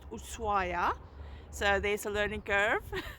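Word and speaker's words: Ushuaia: spelled shua but the locals tell me it's pronounced usua so there's a learning curve for us and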